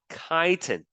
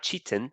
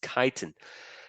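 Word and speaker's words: chitin: now the last kind of polysaccharide is called kiten that's how you pronounce it okay not Chan it's kiten kiten um the monomer is a special kind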